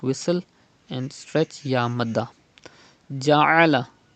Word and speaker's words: جعل: Ja'ala. Pronounce Ain from the middle part of your throat.